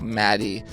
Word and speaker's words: Made: Well, she didn't say she just said it's pronounced like Maddie because she spells it M A D E.